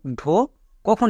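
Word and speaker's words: Dhaka: Next, এরপরে আমরা দেখে নেব ডিএইচ এর জন্য ঢো কখন ইউজ করে থাকি। এর ক্ষেত্রে রুলস হচ্ছে ডি এর পরে যদি এইচ থাকে তখন এর উচ্চারণ ঢো হবে, ডি এর পরে এইচ থাকলেই।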